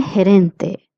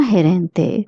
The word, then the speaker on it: gerente: El gerente, means manager. La gerente means female manager. GE, I would like to repeat, is pronounced as he.